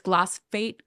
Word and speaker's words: glyphosate: I have so much, I always say it wrong because I'm dyslexic as well. It's glyphosate. Glyphosate.